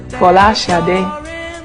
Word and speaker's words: Sade: My name is uh my actual my true Nigerian name or the true Nigerian pronunciation or as close as I can get to it is shadi uh which means crowning